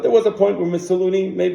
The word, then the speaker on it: Mussolini: But there was a point where Mussolini, how do you pronounce it?